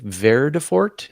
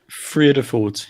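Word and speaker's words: Vredefort: Verdefort. How do you say that, Alan? Is that right? Friedefort, yeah. Friedefort?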